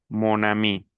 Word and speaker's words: mon ami: Si yo digo ma a mí, no suena bien, porque aquí tenemos tenemos aquí vocal. Vocal. Entonces, esto no es posible pronunciarlo. Por eso utilizo el masculino, digo mon, monami.